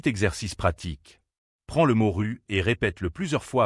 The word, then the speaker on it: rue: Prends le mot ru et répète-le plusieurs fois à voix haute. Ensuite, fais la même chose avec roue. Répète rue rou rue rou. Tu senses la différence ?